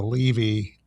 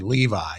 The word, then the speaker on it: Levi: Uh, and it was Levy. Jeremy Levy or Jason Levy or Zachary Levi. Zachary Levi. Zachary Levi is how his last name is pronounced now that you mentioned it.